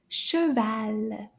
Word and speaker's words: cheval: In French, it's called un Cheval. Cheval. Let's clap the syllables together. Combien de syllabes? Cheval. Cheval. Deux.